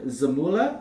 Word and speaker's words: Zamula: Tyson Forrester, Travis Sanheim, Igor Zamula, is that how you say it?